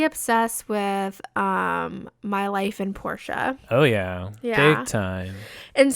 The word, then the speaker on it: Portia: voice actors came out they called a town Porsche and I was like oh my gosh we've all been saying it wrong we've all the same